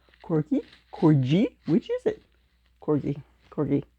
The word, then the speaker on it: Corgi: and work on my Corgi I I Googled it how to pronounce that dog name and it's like okay it's like the G and get so before I say